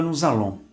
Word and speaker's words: nous allons: Observe a nossa pronúncia entre colchetes. A palavra nous allons.